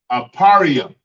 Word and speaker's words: Ephraim: In the Hebrew, Ephraim is pronounced Aparium. Yeah, I'm saying it right. Aparium. Aparium is how you say Ephraim in the English Hebrew.